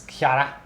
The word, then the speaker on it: Chara: pronouncing that because it's spelled in English like character which character which would be spelled CH because he cut off the last half a word but in Japanese it's Kar I went to the